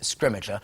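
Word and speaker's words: Scrimgeour: to say his name and we're going with scrimmager I think I think that's how we've ended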